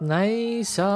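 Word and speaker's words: Naixatloz: down what's going on uh but nice it's spelled n-a-i-x-a-t-l-o-z sometimes they just call themselves the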